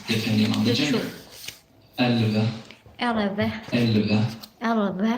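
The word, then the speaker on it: elleve: Elve, Elve. elve. Elve. I've written in brackets below how you Elve. actually pronounce the word. You don't really pronounce the E in the middle there.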